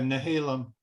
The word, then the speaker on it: Nehalem: Is that how you pronounce it? Nehalem? Nehalem? Yeah, Nehalem.